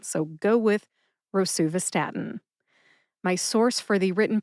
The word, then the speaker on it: rosuvastatin: But rosuvastatin is the official pronunciation. So go with rosuvastatin.